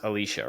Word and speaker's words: Alycia: I know we just went through but it's pronounced Alicia right yep Alicia Alicia goddess fantastic Felicia like